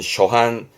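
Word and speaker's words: 諸般: 발음은 쇼한, 쇼한.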